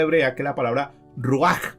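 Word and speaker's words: רוח: Esta palabra espíritu es una palabra hebrea que es la palabra ruach o ruach. La H se pronuncia como J ya.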